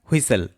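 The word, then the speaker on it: whistle: এখানে কিন্তু টি সাইলেন্ট থাকে। কি উচ্চারণ হয়? হুইসেল।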